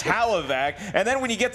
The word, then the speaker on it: Hlavac: nothing about this stuff Adam can't even pronounce his last name properly it's Halla vac and then when you